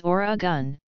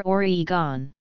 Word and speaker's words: Oregon: According to the Oregon Tourism Commission, present-day Oregonians/Roninz/ pronounce the state's name as Oregon, never Oregon.